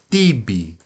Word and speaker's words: tibi: Mas quando o ti cai na sílaba forte, então não fica tsi, fica ti. Tibi.